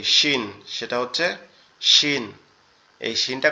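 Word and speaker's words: شين: এরপরে যেটা আছে সেটা হচ্ছে কি শিন, সেটা হচ্ছে শিন। এই শিনটা কোথা থেকে উচ্চারণ হবে? আমাদের জিহ্বার আমাদের দুই দাঁতের পাটি, অর্থাৎ উপরের দাঁতের অংশ নিচের দাঁতের অংশ একসাথে এমন শক্তভাবে লেগে থাকবে, লেগে উচ্চারিত হবে শিন, শিন, শিন, শিন, শিন।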